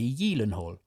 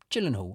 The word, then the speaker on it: Gyllenhaal: we wanted to say how do you say Jake's second name and it is apparently Yen Hall yes and for years like most of us I've been calling him Gyllenhaal or Gillen Hall so there's a fun